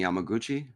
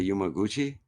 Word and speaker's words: Yamaguchi: Not with a U. It's Y A M A. Why did I say Yumaguchi? I'm saying it wrong. He's not I'm trying to correct you like it's Yama.